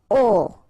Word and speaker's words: aux: Okay, so you can see that here you combine a plus les, and you will get this aux, okay, and then phonetically you produce it or you pronounce it o.